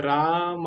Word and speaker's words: राम: अंतर पता होना चाहिए हिंदी के अनुसार पहला शब्द सही है राम लेकिन संस्कृत के अनुसार सही नहीं है रामा हमने बोला ना उसको